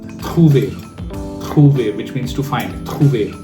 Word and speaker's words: trouve: Most of the people make mistakes here by pronouncing it as je trouve. No, you don't need to pronounce the last letter. You just have to pronounce je trouve.